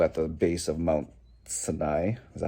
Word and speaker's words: Sinai: they were still at the base of mount sinai that's how you pronounce it anyways so what god was telling